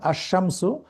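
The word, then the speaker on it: الشمس: যেমন আশামসু, এখানে লাম উচ্চারিত না হয়ে শিন শিন সরাসরি চলে যাচ্ছে।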